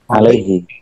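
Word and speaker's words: عَلَيْهِ: Makanya alaihi apa alaihu? Alaihi. Tapi di Al-Qur'an alaihullah wa sayutihi ajron azimah. Oke. Jadi gimana itu? Iya benar. Imam Kisai makanya nggak mau, tetap bacanya alaihi. Ya sudah, karena itu Nabi pernah baca alaihu seperti itu loh, Pak.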